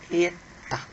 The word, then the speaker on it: eta: Esta letra é conhecida como a letra minúscula, a pronúncia é eta.